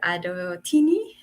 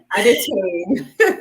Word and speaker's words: Adetoyin: I never come this early, but today I did it because I have a special guest, Dr. Adotini. Did I pronounce it well? Adetoyin. Adetoni.